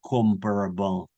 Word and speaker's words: comparable: Все помнят слово comparable? Сравнительно. Это Сравнительно. глагола compare. Compare, сравнивать. To compare. Comparable, сопоставимый. Comparable, на первый слог ударения. Суффикс able никогда не ударяется в английском языке.